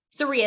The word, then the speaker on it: Seria: your name wrong again Seria it's like Maria with an S okay okay where are